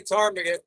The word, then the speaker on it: ptarmigan: Oh, yeah, the ptarmigan. I don't know what about how they spell that and then expect us to say ptarmigan. They just put a P in front there and wanted to be silent.